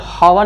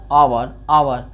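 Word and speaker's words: hour: यच से पहले, ओ से पहले है यच तो साइलेंट है, इसको कब हावर नहीं बोला जाता है, इसको क्या बोला जाता है, आवर। इसको क्या बोला जाएगा, आवर।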